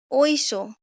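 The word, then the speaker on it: Oysho: বিশেষায়িত বোঝা গেছে আচ্ছা ঐস ঐস কি যদিও এখানে এস এইচ আছে কিন্তু ওরা উচ্চারণ করে এটাকে স কারণ স্প্যানিশে কোন স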